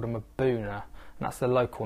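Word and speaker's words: Mbuna: fish um a rock dwelling fish called them a boona that's the local name for them and it's pronounced Mauna but it's actually spelled m bu u n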